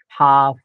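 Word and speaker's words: half: असा उल्लेख होतो बरोबर एल नंतर एफ वापरला गेला तरी एलचा उल्लेख होणार नाही हाफ काफ बिहाफ या पद्धतीने त्याचप्रकारे एल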